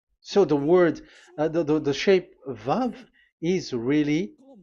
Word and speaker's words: vav: So the way we read it is VAV. So we wrote it as VAV. We called it as VAV. VAV. Your mouth is like closed. VAV. So it's V as in Vogue. So it's really V.